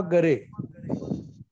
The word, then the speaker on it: गारे: राहुल गारे किंवा गरे. नमस्ते दादा. नमस्कार. आडनाव कसं आहे आपलं? गारे GARE. गारे. गारे. ठीक आहे.